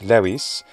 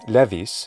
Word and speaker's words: levis: actually it clearly derives from the latin word lewis or an ecclesiastical pronunciation levis which means light light